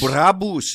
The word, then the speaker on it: Brabus: You must say Brabus. You must say... Brabus? Brabus is how a German would pronounce Brabus.